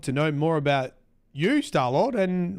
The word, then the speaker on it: Stallord: Am I saying it right? Stallord? Stallord works fine.